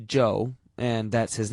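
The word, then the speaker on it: Chu: is amazingly Cooperative Joe spell it c h u if you want to be exotic it still pronounced Joe and that's his name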